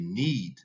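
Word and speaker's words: knead: been embarrassing when i couldn't say need um it's spelled k-n-e-a-d and it is is a process of in in that is involved in bread making yes so now that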